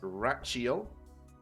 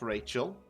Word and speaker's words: Rachiel: So, in case you're wondering how to say the name, it is Rachiel, not Rachel. I'm sure many people are going to get that wrong, but it's Rachiel.